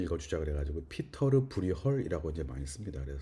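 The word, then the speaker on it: Pieter Bruegel: 예전에는 피터 브리겔이라고 했고요. 그 다음에는 피터 브르겔이라고 하는 게 있었고, 요새는 이제 네덜란드 발음, 플랑드르 발음 그대로 읽자 그래가지고 이제 이게 플랑드르도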